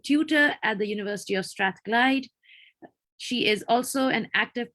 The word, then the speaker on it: Strathclyde: Lamia Sami is a final year PhD student at the University of, and Lamia, please, if you can pronounce this. It's Strathclyde.